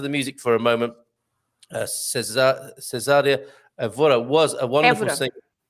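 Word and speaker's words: Cesária: Cesaria also with an accent on the A, right? Okay, on the first A, Cesaria. Otherwise, you would read, how would you read if it's no accent and ending with an IA? Cesaria. That's right. You would read Cesaria. So not to read Cesaria, you put an accent on the first A and then it's Cesaria.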